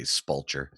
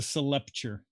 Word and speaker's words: sepulcher: I'm not gonna lie, I was hoping he'd say spulcher. It's the sepulcher.